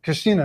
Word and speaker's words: Christina: It's Christina, not Katrina. I always want to say Katrina. It's Christina.